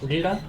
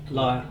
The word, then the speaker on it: lyre: lira, how do you say? Lyre. Lyre, yes.